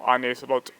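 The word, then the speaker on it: Arne Slot: I think with what Arnslot's been doing recently, he might be willing, or Arneslot, if you want me to be more pronunciant.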